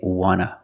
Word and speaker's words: wanna: one and we see the T in want is an NT so we don't pronounce the T and we say wanna wanna I just wanna eat want to or want to you can pronounce it or wanna both pronunciations are correct I just want to